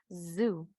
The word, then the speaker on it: zoo: La palabra zoológico en inglés es zoo. Zoo. ¿Verdad? No podemos decir zoo. Porque zoo puede ser, hay un nombre en inglés, ¿verdad? Alguien que se llame Sue.